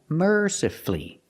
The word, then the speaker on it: mercifully: practice with mercifully again mercifully you have two syllables before f l l y and the stress is on the first syllable so the U is silent you don't hear it mercifully not mercifully mercifully